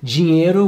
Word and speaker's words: dinheiro: Other complicated sounds are the LH and NH combinations. Ilha, this means island, or dinheiro, which means money.